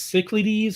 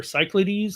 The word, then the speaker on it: Cyclades: For me, it is Cyclades or Cyclades, depending on how you say it.